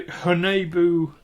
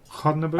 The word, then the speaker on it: Haunebu: Yes, the one I was thinking of was the Honebu. You have to forgive my pronunciation. You're the one that speaks German. Honebu 2, I believe it was called. Haunebu. Haun. Nebu. Haunebu.